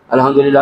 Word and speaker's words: আলহামদুলিল্লাহ: তুমি আলহামদুলিল্লাহ আলহামদুলিল্লাহ আলহামদুলিল্লাহ এইভাবে কিন্তু উচ্চারণ করতে হবে আলহামদুলিল্লাহ আলহামদুলিল্লাহ সুবহানাল্লাহ সুবহানাল্লাহ কিছু